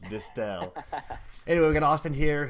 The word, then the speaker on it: Distel: It's Distel.